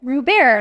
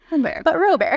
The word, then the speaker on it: Robert: Robert, last name is spelled like Robert. I always say the best thing that happened for me to explain my name to people was Steve Colbert being famous.